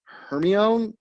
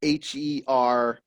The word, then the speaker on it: Hermione: to like this is one of the hardest names to read and pronounce because it's spelt h-e-r-m-i-o-n-e so you're like hermione hermione harmony and i don't think